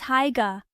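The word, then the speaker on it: Haigha: His name is Higa. He pronounced it so as to rhyme with mayor.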